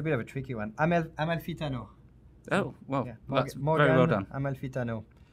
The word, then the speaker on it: Amalfitano: Amalfitano.